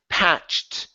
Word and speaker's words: patch: this word here is patched ED ending patched past ok one more time patch pet ok so you're skipping over the CH we need that CH sound so let's try the